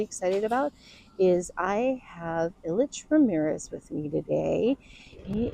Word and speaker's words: Ilich: So, your first name is pronounced Illich. So, yeah, my first name is Illich.